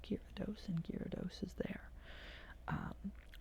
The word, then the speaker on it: Gyarados: gyarados gyarados gyarados giarados that's how you spell it gyarados but it's gyrados it's kyra dos and gyarados is there